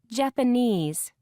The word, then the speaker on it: Japanese: second syllable location require third syllable Corporation Japanese page 39 pronunciation B